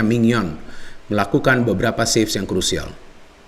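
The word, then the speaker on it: Maignan: Dan juga secara permainan Sampdoria memberikan perlawanan yang luar biasa, tapi memang penjaga gawang Milan juga Mignon ya, kan seperti itu pronunciation-nya Mignon, melakukan beberapa saves yang krusial.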